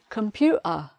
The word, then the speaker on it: computer: This word, probably quite easy, as it's a longer word with just one letter missing. Computer. So that's computer. Computer.